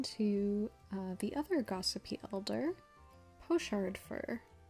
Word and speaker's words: Pochard: On to the other gossipy elder, Pochard Fur, or Pockard. The British and American pronunciations are different, and I'm going with the American pronunciation because that's generally closer to my accent as a Canadian.